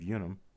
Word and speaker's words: unum: See a little bit of damage at the rim above the UN of unum. Unum. Should be pronounced unum because there was no U sound in Latin.